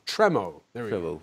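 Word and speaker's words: Tremau: you pronounce it tremo tremo tremo there we go tro the French word with an English touch thank you very much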